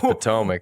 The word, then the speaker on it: Potomac: don't say pokemon colorado i even know it's potomac come on now or i'm sorry bro i've came and butchered some streets and colorado natives have laughed